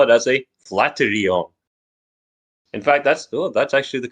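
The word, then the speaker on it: flatiron: so I'm going to call it as a flaterion. In fact, that's actually the correct pronunciation.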